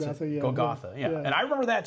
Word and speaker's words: Golgotha: But, you know, then you started another game, Golgotha, is that how you pronounce Golgotha, it? yeah. Golgotha, yeah.